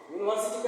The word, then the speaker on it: यूनिवर्सिटी: है लेकिन इसका प्रोनंसिएशन वोवेल के साउंड से नहीं हो रहा है। इसका प्रोनंसिएशन हो रहा है कसोनेंट साउंड से। यूनिवर्सिटी कैसे लिखेंगे आप लोग हिंदी में? ऐसे लिखेंगे यूनिवर्सिटी। यूनिवर्सिटी। कौन सा अक्षर आया इसमें? इसमें एक अक्षर आ गया य। क्या आ गया? य यूनिवर्सिटी।